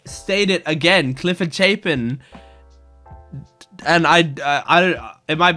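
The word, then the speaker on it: Chapin: announced him is Cliff so it is pronounced shapen I just want to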